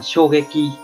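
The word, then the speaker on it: 衝撃: Cách đọc của nó là shogeki, shogeki, nghĩa của nó là sốc, là sốc, là sự chấn động, sốc và sự chấn động.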